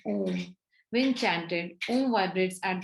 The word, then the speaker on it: Om: Om is pronounced as A-U-M, Om.